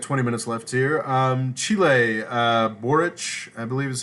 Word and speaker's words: Boric: Chile, Boric, I believe is how you pronounce it.